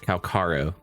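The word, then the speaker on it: Calcharo: Anyway, Calcharro, or actually I found out his name is actually pronounced Calcharro. In game.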